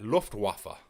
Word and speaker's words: Luftwaffe: Luftwaffe.